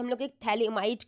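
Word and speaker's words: phthalimide: hello कार्बोसिंथ might synthesis थैलेम में आपका पी और एच साइलेंट रहता है ठीक है पी एच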